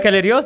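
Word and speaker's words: بكالوريوس: Bacalerios, that's how we say it in Arabic.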